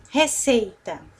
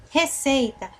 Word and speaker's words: receita: Qual dessas palavras é a palavra, é a sílaba tônica? Receita. Receita. Ou receitar. Nós geralmente falamos receita. Receita. É a que nós demoramos mais tempo para falar, não é?